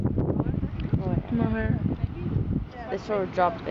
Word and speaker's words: Moher: How do they pronounce it? Moher. They sort of dropped the ATR. Moher.